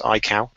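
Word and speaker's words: Aikau: first of all as we've been saying it's pronounced iow as Richard was saying it's named after a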